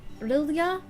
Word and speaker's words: Rilja: Rilja. Sorry, they do pronounce their J's.